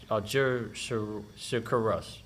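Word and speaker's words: Algeciras: in Morocco 1880 and the act of Algeria algerus that's how you say it algerica Russ that's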